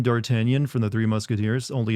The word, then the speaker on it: D'Artagnan: I've never heard anyone pronounce it as Dartigan, actually. It's based off the French name D'Artagnan from the Three Musketeers, only Americanized.